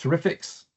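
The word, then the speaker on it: TREFX: Another project that was previously in there was something called TR effects pronounced terrifics.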